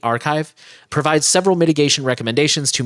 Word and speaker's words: arXiv: The technical paper published on, I never know how to pronounce that, Arxiv, A-R-X-I-V, Archive, provides several mitigation recommendations